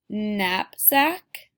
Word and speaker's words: knapsack: In this story, you're going to read some words that make the sound spelled with the letters KN, that tricky spelling. Knapsack, knives.